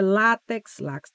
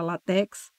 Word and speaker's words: látex: é púdico é Juniores é látex látex tem gente que mesmo com acento fala latex libido misantropo eu repeti